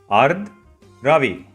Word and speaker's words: Ardravi: If I slow it down, it's Ardravi. You need to roll the R sound a bit.